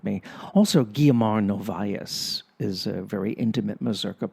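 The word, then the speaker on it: Guiomar Novaes: Also, Guiamar Novias is a very intimate Mazerka player in that sense. See, I pronounced her name correctly because I used to speak Portuguese, even though I completely forgot how to speak Portuguese.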